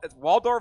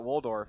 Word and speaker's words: Waldorf: my screen so so w Waldorf is actually how you say it so I've been calling it Waldorf so that's wrong I'm gonna give up